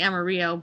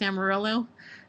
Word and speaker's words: Amarillo: here to Amarillo, um I want to say Amaro, but that's not it's not how you say it, right? It's Amarillo.